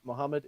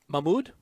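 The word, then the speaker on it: Mahmud: to correct it earlier his name is not Muhammad it's mmud Mamud mmud oh well thank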